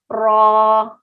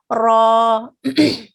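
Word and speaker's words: راء: raw you pronounce it raw now don't circle your lips again the way i said heaviness comes from the tongue raw not okay next we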